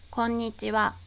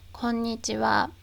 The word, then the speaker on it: こんにちは: But within the greeting こんにちは, the ha is pronounced as wa.